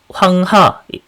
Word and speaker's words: 황하: 황하 중국에서 황허라고 이제 발음을 하는 건데 황하라고 하는 거는 말 그대로 이제 물하자거든요. 그래서 하가 이제 강이란 뜻을 갖고 있기 때문에 황하강이라고 하면 우리로 치면은 한강강이라고 부르는 거랑 같은 말이에요.